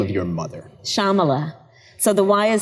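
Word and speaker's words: Shyamala: and that is the name of your mother Shamala so the why is silent Shambhala Shambhala yeah sama let go Gopala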